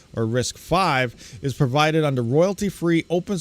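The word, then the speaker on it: RISC-V: principles unlike other Isa designs risk V or risk 5 is provided under royalty-free open source license licenses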